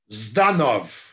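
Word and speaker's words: Жданов: Zdanov. É assim que se pronuncia em russo.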